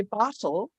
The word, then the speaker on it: bottle: So if I say bottle, we kind of pronounce it as bottle, and you don't have a vowel sound in the second syllable.